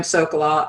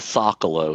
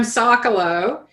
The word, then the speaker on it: Socolow: great folks joining me here i've got sokolov am i pronouncing that right soon well i've been called worse but a soccer low thanks i messed that up every time all right sokolow and uh phillip gryson so um you